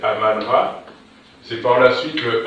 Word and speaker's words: Amon Ra: Qu'on va prononcer Amon Ra, mais en réalité, c'est Aman Ra.